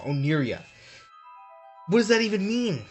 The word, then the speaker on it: Oniria: I keep saying the name wrong. Oniria.